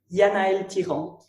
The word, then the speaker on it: Yanaëlle Thiran: I'll just say it the way I say it. Yanaëlle Thiran.